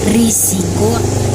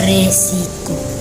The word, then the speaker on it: risiko: dalam penulisan ataupun pengucapan pada situasi resmi atau yang dipakai adalah risiko bukan resiko arti kata resikonya yaitu